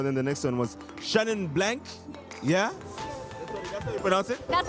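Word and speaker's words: Chenin Blanc: with those Merlo then the next one was Shannon blank yeah that's how you pronounce it that's how you pronounce it you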